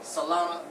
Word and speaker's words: Solana: Solana, there you go. That's how you say it.